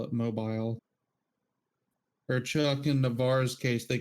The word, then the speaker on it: Navarre: And I was like, wow, the guy actually pronounced it correctly. He's like, yeah, I used to live right down the road from there. Nice. I was like, that's the only way. Everybody up here says Navarre.